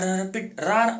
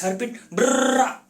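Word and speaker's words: Harpreet Brar: Is it Harpit Brar or Harpit Rar or what? I'll tell you the correct pronunciation. It's Harpit Brar.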